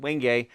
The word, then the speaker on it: Wenge: an African species called Wenge. It looks like Wenge, you know, if we were to see it spelled out, but it's pronounced Wenge, and it's a very interesting wood.